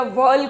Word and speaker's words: whorl: बहुत सारे स्टेमन्स के ग्रुप को या वर्ल को, वर्ल यानी WHORL, वर्ल बोलते हैं इसको, हॉल नहीं बोलते, कुछ बच्चे इसे हॉल बोलते हैं, हॉल प्रोनाउंसिएशन नहीं है, दिस इज कॉल्ड वर्ल।